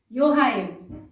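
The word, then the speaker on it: Johann: example it's yulia it's johan because you pronounce j as y so again you know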